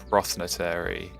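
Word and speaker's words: Prothonotary: So I pronounce it Prothnotary Warbler.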